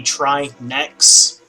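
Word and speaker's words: Trinexx: is having it be try next but because of how English works you see because of how English works you stress the second syllable so instead of trinex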